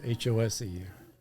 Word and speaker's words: Hose: Hose, Hose, pronounced Hosey sometimes.